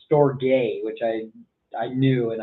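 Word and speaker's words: Storge: our types of love episodes i called it storage was the love and i should probably know what i'm talking about before i go on the podcast it's pronounced store gay which i i knew and i didn't i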